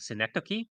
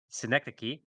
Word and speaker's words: Synecdoche: by an artist called Synecdoche. And Is that how you Synecdoche pronounce it? is All right. yeah, I actually had to Google it, and that's apparently how you pronounce it, Synecdoche.